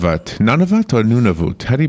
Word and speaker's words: Nunavut: none of that or Nunavut Eddie pronounce that word have no clue it is a book he wrote it's called nuna booth nu n AV UT it's an Arctic thriller